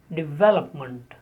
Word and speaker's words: development: The stress is on ve and the last sound is month. The last syllable is month. Normally in English, when we have ment at the end of the word, it is normally spoken as month.